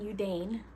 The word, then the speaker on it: Yudane: When comparing tangang and udane which is how I pronounce it they're the same process the process